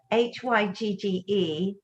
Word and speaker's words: hygge: and i can't i've i looked up how to pronounce this word h-y-g-g-e hygge nicely done thank you i did